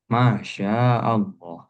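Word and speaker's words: ما شاء الله: Barangkali dalam kehidupan sehari-hari kita sering ucapkan itu, maka ma panjang, sanya panjang, lafaz Allah juga panjang. Masyaallah.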